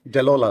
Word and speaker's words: Delola: life cocktails in hand how do you say that DEA life right deola life deola life oh there it is dancing delola life cocktails in hand